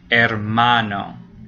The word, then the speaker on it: hermano: So words that end in a vowel get the second, without an accent mark, have the second to last syllable stressed. So there you go. It's the middle one. Hermano.